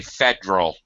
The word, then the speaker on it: federal: Okay, here's another one where the accepted form, it's really kind of accepted to say federal. But federal, yeah. Shortening from 3 syllables to 2 syllables.